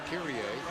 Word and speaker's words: Kyrie: end, because Kyrie Irving, if you pronounce his name in the Latin, it's Kyrie, a part of the Catholic Mass, as you know, the Kyrie eleison, and it means Lord have mercy.